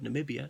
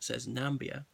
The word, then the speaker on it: Namibia: Can't read the word Namibia, says Nambia. All right, he misspoke. He mispronounced things.